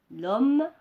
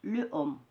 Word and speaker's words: l'homme: L'homme, le homme. Alors ici, c'est la même chose. Il y a des difficultés de prononciation. On ne dit pas le homme, on dit l'homme.